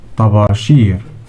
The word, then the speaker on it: طباشير: طباشير. طاء plus باء plus ألف plus شين plus ياء plus راء equals طا با شيرا.